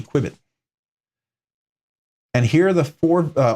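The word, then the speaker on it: Qbit: So I'm going to do, and it's spelled Q-B-I-T, Quibit.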